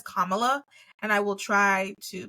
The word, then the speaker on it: Kamala: name in my head I've always heard Kamala but it is Kamala and I will try